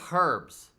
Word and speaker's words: herbs: which we should say herbs i don't understand why we don't pronounce the h that makes absolutely no